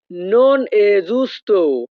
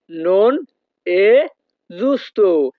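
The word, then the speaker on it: non è giusto: বাক্যের ইতালিয়ান ভাষা হবে নোন এ জুস্তু নোন এ জুস্তু ইতালিয়ান ভাষাতে ই এর উচ্চারণ হবে এ যখনই আমরা ইতালিয়ান ভাষায়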